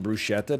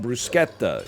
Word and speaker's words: bruschetta: want to get some bruschetta to start? Now, I'm telling you that's how we pronounced it back then. I've only recently become aware of the fact that it's called bruschetta. It's pronounced bruschetta.